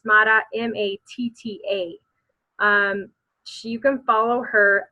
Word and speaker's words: Matta: Everybody wants to spell it, but it's not. it's Matta, Matta.